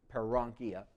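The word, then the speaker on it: paronychia: dry skin / aankia it could be para on key because para is the around but they dropped it out because it's hard to say para on Kea parang kia abnormal condition of fungus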